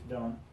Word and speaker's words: don't: don't do it okay so final T's don't really get pronounced don't really get pronounced okay you'll just have a at the end instead okay I'm gonna